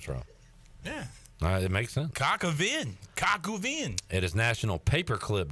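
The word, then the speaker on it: coq au vin: Cockavinde.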